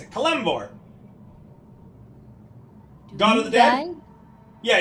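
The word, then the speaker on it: Kelemvor: of kelore your kvor kvor that's how you pronounce it kvor God of the Dead yeah he's the Doom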